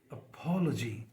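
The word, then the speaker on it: apology: एल ओ जी वाई तो जो शुरू का ए है जैसे हम बोलते हैं अपॉलॉजी नहीं पढ़ा जाएगा बल्कि पी पे जो उसके स्ट्रेस है अपॉलॉजी तो शुरू वाला ए है वो बिल्कुल वीक हो जाएगा तो दिस साउंड इज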